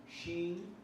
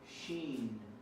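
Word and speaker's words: Shin: The next one we have sheen and seen. The dot on the right is sheen. The dot on the left is seen.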